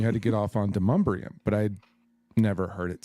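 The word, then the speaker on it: Demonbreun: and then you had to get off on Demumbrium, but I'd never heard it said. How do you spell that? How do you spell that? Demon Brow.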